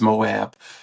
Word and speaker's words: Moab: were pulled over in I believe it's pronounced Moab Utah and how someone phoned